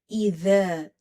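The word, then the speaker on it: إذا: Idha, idha, idha. Control the tongue when you're pronouncing the letter dhal. And alif is madda, so there is a stretch.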